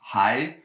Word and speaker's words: 还: And it normally means hai, which is still, something like that. But it also means huan. It has two pronunciations, and of course, if